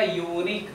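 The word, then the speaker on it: unique: इसका उच्चारण होगा यूनिक, क्या से हो रहा है, यरलवस।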